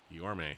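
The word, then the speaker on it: Guillorme: Guillaume, sorry. The Mets broadcasters have been saying it wrong all last year too.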